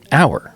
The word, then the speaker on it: Auer: go oh yeah what so I always have to say okay look it's it's power without the B so it's just our right and then they go